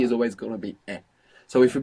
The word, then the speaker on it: es: es normal es normal and you pronounce the NES which is excellent English speakers should be aware that maybe they feel themselves pronouncing a zed because many times we have an s in English like in the word is and we pronounce Zed so you might find sleeping out as but this is incorrect you should be careful to pronounce an s s normal good how